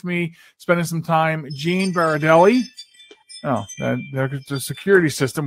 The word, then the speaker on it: Berardelli: The way I always tell the people, Yogi Berra going into a deli, Berardelli.